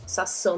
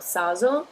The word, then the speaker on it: sasso: If there was one S, it would be saso, which in this case doesn't mean anything. It's not saso, but it's sasso. So double S.